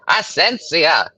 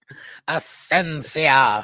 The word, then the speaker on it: Asencia: think about it we could land the ship asensia there it is asensia asensia it sounds almost like exelor exelor yeah